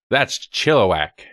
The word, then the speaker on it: Chilliwack: sure that sounds close Chilliwack chiloe Chilliwack Marillac that's Chilliwack Chilliwack okay I don't know I don't know